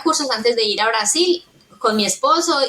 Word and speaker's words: Brasil: que desbloqueas y ya la regla es todo lo que termina en D e se dice y, eh, lo que termina en se dice u, entonces Brasil, tú, yo digo Brasil, tú dices, ¿qué? Pero Brasil es Brasil porque terminó en L.